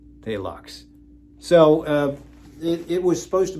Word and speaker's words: Phthalox: with this compound called phthalox that is how you spell it palux so it was supposed